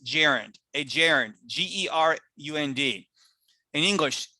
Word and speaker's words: gerund: know the word starts with a g it's pronounced gerund a gerund g-e-r-u-n-d in english if you want